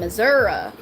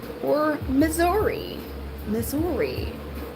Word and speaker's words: Missouri: I live in Missouri, or Missouri. Depends on where you're from, how you say it.